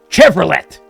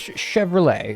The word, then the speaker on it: Chevrolet: they'd probably be like Chevrolet and I'd be like no no it's Chevrolet it's a song CH and the t is silent oh why is that